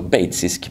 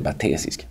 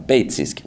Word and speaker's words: batesisk: Så det här uttalas alltså batesisk mimikry, inte batesisk, utan batesisk mimikry.